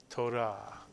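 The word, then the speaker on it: תורה: of course you can Torah and Israelis tend to roll the r not quite like the French do but a little bit torahs Torah and the Torah is the Five Books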